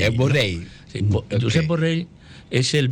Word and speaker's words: Borrell: Borrell se pronunciamos en catalán. Porque es una L de llave. Sí. Borrell. Es Borrell.